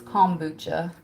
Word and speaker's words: kombucha: I always say kombucha, but it's kombucha.